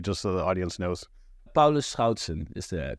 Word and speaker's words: Paulus Schoutsen: last name appropriately just so the audience knows Paulo Schon is the correct pronunciation but here in the Americas that doesn't